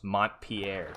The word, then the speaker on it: Montpelier: Yeah, pronunciation What is aside, Montpelier? it is Montpelier.